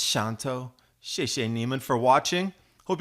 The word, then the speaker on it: Xanto: means thank you and you can see that X is pronounced as an S sound shantou in case anybody asks how do you say that X sound looks like X Anto or something it's Shonto